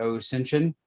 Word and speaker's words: OSINTION: and sole content developer for the ensin spelled o the ENT ion pronounced like Ascension uh with that I